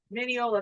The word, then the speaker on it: Mineola: Mineola, that's how you say it. Yeah. We've been saying it wrong the whole night. Yeah. Mineola. Well, we Minnie- apologize. Minnie Patton and Ola is how they got the name.